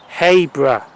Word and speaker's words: Habrough: Platform 1B for the 0910 TransPennine Express service to Cleethorpes, Meadowhall, Doncaster, Barnetby, Habrough, Now usually I would say Habrough, but it's not Habrough, it's Habrough. Apparently that's how it's announced.